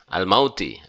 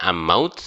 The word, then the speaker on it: almauti: ya Al maut almaut almauti almauti almauti ya bukan ammaut tapi Al Al mau jadi alif lam sebagai alif